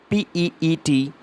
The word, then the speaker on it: pizza: Most of us, we pronounce it like pizza. So it is not pizza, it is PEETZUH.